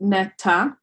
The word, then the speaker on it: Netta: My name is Net. It's actually in Hebrew, it's pronounced Netta, and I am a senior web developer at a startup called Reali.